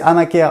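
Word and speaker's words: Amacker: Donc c'est Amaker, A-M-A-C-K-E-R. Ça se prononce Amaker comme Black et Decker.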